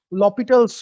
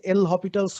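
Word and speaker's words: L'Hôpital's: হসপিটালস rule অনেকে বলে, বাট আমি যতদূর জানি এটার বানানটা হপিটালের মতো হলেও উচ্চারণটা হচ্ছে লপিটালের মতো। আহ, আহ, ভুল হতে পারে, আমি জানি না, তবে আমার জানা মতে লপিটালটাই হচ্ছে অ্যাকচুয়াল উচ্চারণ।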